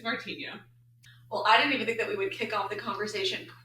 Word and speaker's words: Martinho: It's Martinho.